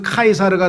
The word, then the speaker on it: 카이사르: 원래 라틴어니까 로마의 언어 라틴어는 C가 K로 발음이 돼요. 그래서 카이사르가 되고 키프로스가 되는 거예요.